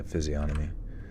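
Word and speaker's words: physiognomy: this even a word physiog anomy oh with the G yeah physiomer silent G Evo is basically fighting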